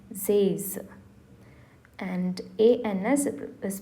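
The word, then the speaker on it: seize: 16 is pronounced as Zays.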